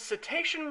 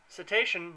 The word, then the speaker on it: cetacean: Let's play Harpoon, the Japanese cetacean research simulator. It's cetacean, not cetacean. Well, I mean, heaven forbid they actually pronounce it the way it's spelled, but, you know, it's not Japan's fault.